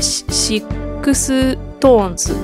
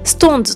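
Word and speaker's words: SixTONES: ん、あとですね、シックストーンズ、いやこれはですねストーンズと読みます。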